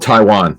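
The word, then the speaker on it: Tiawan: That's a good point because his name is spelled like it would be Taiwan, not Tai. It's not T-A-I. It's T-I-A-W-A-N. I was told Taiwan. It just has it spelled like that.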